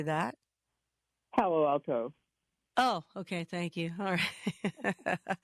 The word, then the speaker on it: Palo Alto: Palace Palo alt how do you say that Palo Alto oh okay thank you all right you're in